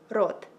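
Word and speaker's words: рот: say mouth in Ukrainian you would say it like rot rot rot and yeah guys thank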